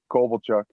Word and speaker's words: Kovalchuk: first remember about uh i'd never say his name right kovale chook or cabal chuck what do you say uh kovalchuk kovalchuk so what do you